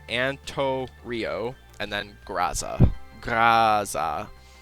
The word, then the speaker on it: Antorio: AMC and Torio graza that's pronounced Ann tour Rio or yeah Anto Rio and then graza graza